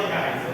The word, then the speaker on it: Geisel: São 5 governos, a gente aqui identifica pelos sobrenomes dos militares: Castelo Branco, Costa e Silva, Médici, Geisel, apesar de se escrever Geisel, se fala Geisel, né?